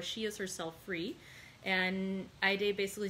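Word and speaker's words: Haydée: And so he goes to visit Aide, who the other day I'd said I was going to call Heidi, but I've decided to go with the actual pronunciation, which was recommended online, of Aide.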